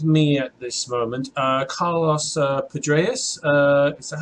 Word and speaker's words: Pedraza: Alright, so I have with me at this moment Carlos Pedraza. Is that how I pronounce it? Pedraza.